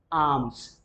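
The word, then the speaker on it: alms: L becomes silent, यहाँ पर L silent हो जाएगा। Pronunciation would be आर्म्स।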